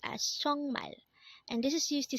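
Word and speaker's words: 정말: sorry next word is chongmal again this is pronounced as chongmal and this is used to say really or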